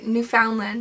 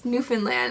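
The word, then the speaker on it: Newfoundland: who lives in uh I want want to say New Foundland but it's newfinland I'm like Canadian I still say it wrong but um yeah so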